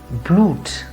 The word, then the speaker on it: Blut: Or here, it will be blut, and not blut, but blut.